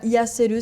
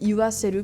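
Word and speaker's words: 言わせる: Bon alors là pour le you c'est pas ia-CELU, c'est iwa-CELU pour des raisons de prononciation.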